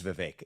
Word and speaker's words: Vivek: David uh so and thank you for saying my name correctly it is Vivek so here's what I